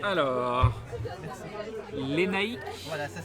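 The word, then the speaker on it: Lénaïc: Lénaïque. Voilà, ça s'écrit comme ça.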